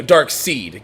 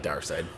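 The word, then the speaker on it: Darkseid: dark scene you know dark seed compared depending on how you truly want to pronounce it i like dark side well so what happened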